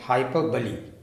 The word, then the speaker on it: hyperbole: Mark my pronunciation, hyperbole.